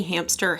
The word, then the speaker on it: hamster: Why do I say hamster? Hamster. There's no P in hamster. But I say it like there is.